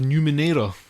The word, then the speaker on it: Numenera: Okay, so that's Torment, Tides of Numenera. Is that how you pronounce that?